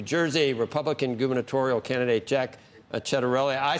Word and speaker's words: Ciattarelli: You've done your homework, and people that call me Chet know the correct pronunciation of the last name is Ciattarelli.